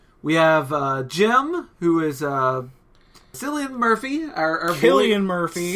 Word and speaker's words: Cillian: We have Jim, who is Cillian Murphy, our Cillian boy. Murphy. Cillian. It's Cillian. I've always called him Killian, and I'm never going to be able to pronounce it.